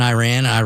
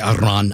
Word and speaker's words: Iran: When we started this stuff in Iran, when we started that, and some people get mad, they want me to say Iran. The proper pronunciation is Iran.